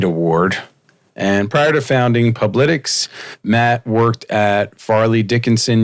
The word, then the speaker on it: Publitics: And how do you pronounce? Is it Publitics?